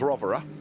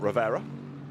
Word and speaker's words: Rovera: One, it is pronounced Rovera, not Rivera, in the case of Alessio.